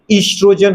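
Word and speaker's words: oestrogen: ईस्ट्रोजन hormone. वैसे ओ silent है, नहीं लिखना है तो मत लिखो, सीधा इससे स्टार्ट करो ईस्ट्रोजन, अदरवाइज उससे स्टार्ट होता है ईस्ट्रोजन।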